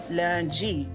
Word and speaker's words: lundi: Day of the week, lundi, like with a D, but in Michif, French, we say lundi, like it's G.